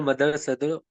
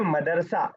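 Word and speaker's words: مدرسة: तो उर्दू में हम बोलते हैं मदरसा, लेकिन अरबिक में मदरसा है। तो दोनों में जरा सा प्रोनाउंसिएशन का फर्क है।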